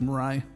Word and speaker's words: Mirai: job on that yeah some more and i'm pronouncing that right correct mirai yeah i i love how you pronounce it